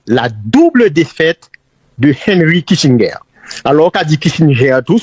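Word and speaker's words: Kissinger: il caractérisé par la double défaite de Henry Kitinger alors dit ger prononcé en américain mais son allemand cri aux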